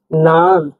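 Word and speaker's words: нан: বর্ণের এন এর মধ্যে উচ্চারণ হয় মানে ন উচ্চারণ হবে উদাহরণ দিচ্ছি আমরা দেখুন নান নান মানে রুটি নান মানে রুটি নান রুটি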